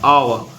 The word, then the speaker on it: hour: फिर लिखा है HOUR, आवर। आवर में अपन आवर इत्ते का पढ़ते हैं, आवर। यच हम पर नहीं पढ़ते, तो यच क्या है, साइलेंट लेटर है, तो इसको हमने लिख दिया, ये हो गया आंसर।